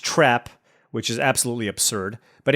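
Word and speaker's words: Trepe: Quistis, apparently this is pronounced Trap, which is absolutely absurd. But anyways, Quistis Trap here is a really nice spell, especially when you get to the late game.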